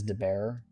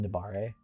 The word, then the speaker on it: Dare: His name isn't difficult, but I guess I guess people might read it as Dear, but it's pronounced Dare.